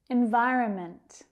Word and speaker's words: environment: Environment, environment. Can you hear where the stress is? On that second syllable.